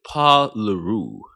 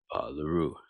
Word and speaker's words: LeRoux: A guy named Paul LeRoux, that's spelled LeRoux with a R-O-U-X, X is silent.